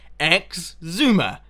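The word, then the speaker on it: Xisuma: correct way of saying it's got an x at the beginning x zoomer exuma i don't know why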